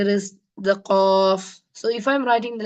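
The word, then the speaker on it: ق: The next letter is the qaf. So if I'm writing the letter qaf in English, how is it pronounced? The qaf in English, it will be Q-U-A-F like this. Qaf. It is a heavy letter.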